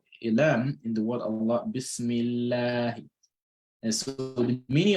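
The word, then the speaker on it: الله: Lam in the word Allah, Inna Allah. So Lam will have a heavy sound, a heavy pronunciation structure there. Or if a kasr comes before a Lam in the word Allah, Bismillah.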